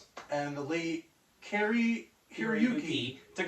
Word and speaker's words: Hiroyuki: and then the late Carrie uh Carrie Heruki. I apologize. I apologize for if I mispronounced that. I'm doing my best. And the late Carrie Hiroyuki Tagawa Tagawa.